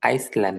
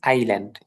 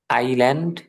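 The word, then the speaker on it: island: আলমারি আইল্যান্ড এটা কিন্তু আইসল্যান্ড না এটার নাম আইল্যান্ড এস উচ্চারণ হবে না আইল্যান্ড ডিপ অশন অশন মহাসাগর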